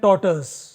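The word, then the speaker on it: tortoise: आपने कहानी सुनी होगी हेयर एंड टॉर्टस, जिसको कई लोग टोटोइस कहते हैं, बट सही उच्चारण टॉर्टस है।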